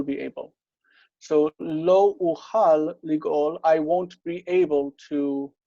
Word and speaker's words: לגאול: next word, ligoli, and once it's joined, then this becomes a short. It's a short closed syllable. Okay. So it's ligol. They actually wrote it with vav, which is how we would write it today, and it's fine, ligol. But the Masoretes are saying we can't have this long vowel in a closed syllable, so we have to read it as ligol, ligoli.